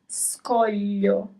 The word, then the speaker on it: scoglio: So the right pronunciation is scoglio. Scoglio. So here you have both the group of letters GLI and the group of letters SCO that we have focused on in the previous lesson.